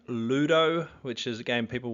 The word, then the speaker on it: Ludo: is the game called Ludo now it kind of rhymes with clue and that is the